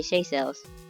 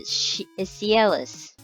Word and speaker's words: Seychelles: I did not know how to say Seychelles. For I think for 3-4 years, I pronounced it Cielus. I don't know. I had to have a friend correct me on it twice.